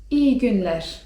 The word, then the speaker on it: iyi günler: powiedzieć: iyi günler (czyt.